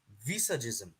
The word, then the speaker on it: visagism: a concept called as visagism all right you spell it as v i s a like visa and g i s m like chisholm right so visagism does anyone